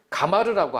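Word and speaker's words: גמר: 히브리어로는 이루다라는 말을 가마르라고 하는데 발음하는데 그 뜻은 끝냈다, 이루었다는 의미가 있습니다.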